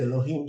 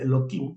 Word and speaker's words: Elohim: eloim aunque también muchas no se dice Elohim se dice eloim ná para qué Porque